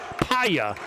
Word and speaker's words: Paya: Paya is the way to pronounce that young man's name.